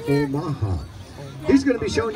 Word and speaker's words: Omaha: The Omaha. How many folks have heard of the Omaha? How many folks heard of Omaha? Well, there you go. It's the same thing, but the proper pronunciation is Omaha.